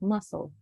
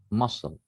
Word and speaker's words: muscle: uh for this one the c is silent so you say it like muscle muscle okay yes good thank